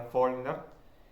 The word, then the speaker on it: Faulkner: Faulkner también, que se escribe Faulkner, que ahora yo sé que es francés, pero se pronuncia Faulkner.